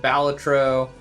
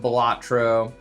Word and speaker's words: Balatro: Some people I've heard pronounce it Balletro. Um, I call it Bellatro.